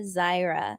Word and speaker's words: Zyra: Myra Zyra. Is it Myra? No, it sounds like Myra, but with the Z.